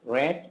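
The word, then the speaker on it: read: খাম, খেম আসা, রিড, রেড, রেড পড়া, পাঠ করা। এখানে তিনটার বানানই সেম, কিন্তু উচ্চারণ হবে ভিন্ন। প্রথমটা রিড, পরের দুটো রেড।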